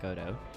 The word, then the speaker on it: Godot: Yeah, that was like an Irish person writing a play for a French audience, and he pronounced it Godot. So that's the way that I pronounce it, but I didn't really give a shit how other people pronounce it.